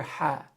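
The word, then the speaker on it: ح: So ha is unique. Ha does not exist in the English language. So many native English speakers, they're going to pronounce ha as ha. They'll say Bismillahir Rahmani, Bismillahir Rahmanir Rahim. All right, so you're going to have difficulty pronouncing that. You're going to naturally go to this sound right here, which is at the bottom of the throat. You're going to say ha, and that's wrong.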